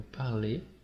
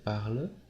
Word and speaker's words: parle: vous avez bien entendu c'est la même prononciation pour les trois premières personnes du symbole il nous